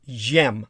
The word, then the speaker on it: xem: The xem, zim, would be pronounced jem, like a zh, like azure, or the like, and zers, which would be truly pronounced xirs as years.